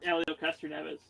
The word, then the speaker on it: Helio Castroneves: I can't pronounce this guy's name. Helio Castroneves. It's Helio Castroneves.